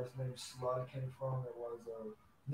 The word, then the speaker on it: Slud: But yeah, it's pronounced Slud, S-L-U-D. A lot of people say Slud. I mean, that works too.